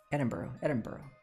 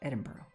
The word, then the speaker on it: Edinburgh: Edinburgh. That's how you say it. Edinburgh.